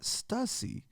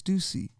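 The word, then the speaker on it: Stüssy: Stussy I'm like bro it's not Stussy like seriously like go read a book go get smart it's stucy it's always been stucy so that's that's called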